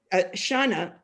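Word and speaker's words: Xana: that really celebrates to me the book and shauna which is spelled x-a-n-a is angry at the failure of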